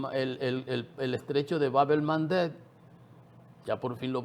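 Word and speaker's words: Bab el-Mandeb: El el el el estrecho de Babel Mandet, ya por fin lo pronunció bien, Babel Mandet, eh, ahí en el Mar Rojo, que les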